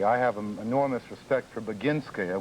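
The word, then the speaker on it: Boginskaya: Quite frankly, I have enormous respect for Beinska, which is the correct pronunciation of these difficult Russian names.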